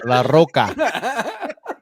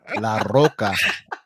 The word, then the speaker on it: Larroca: Roll your R's again. Let me see. Salvador Larroca. M&M variant. No, you're rolling the L, not the R. La Roca. La Roca.